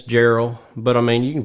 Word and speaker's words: Jarrell: right yep yep yep two RS and two L's and it's Gerald but I mean you